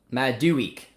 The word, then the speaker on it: Madueke: less than um okay it's pronounced my do week but do week i'm